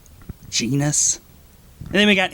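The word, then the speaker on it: Genis: gusville jisel I mean it's spelled like penis with a G genus and then we got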